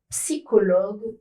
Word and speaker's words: psychologue: La majorité des mots qui sont des exceptions, qui s'écrivent C plus H mais ne se prononcent pas che, viennent du grec. Ils sont prononcés que.